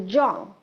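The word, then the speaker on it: Zhong: Um but I will share that this area is called the Jong and Jong is is spelled as um Z H O N G.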